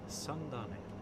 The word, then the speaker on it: Sandane: I need to see how that's pronounced. Let's go to translate. Let's go to Norwegian. Sandi. Okay, simple enough. Uh the weather in Sani um is actually the wind is from 310 with 11 knots.